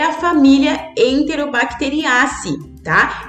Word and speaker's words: enterobacteriaceae: pronuncia e aí o a forma de pronunciar então é enterobacteriaceae' e é diferente do que eu falar enterobactérias que também é um